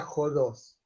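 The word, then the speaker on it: ὁδός: Y eso es porque en griego tiene lo que llaman espíritu áspero, que se pronuncia como una J, y es un signito así encima de la letra, ¿no?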